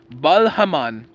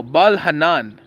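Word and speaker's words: Baal-hanan: When Sha died, Bal Haman, no, Bal Hanan, that's how you say it, son of Akbar reigned in his place.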